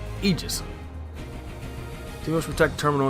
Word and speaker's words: Aegis: Also, just notice he pronounced it as Aegis, as if the A's not even there. It's not Aegis or Aegis, it's Aegis.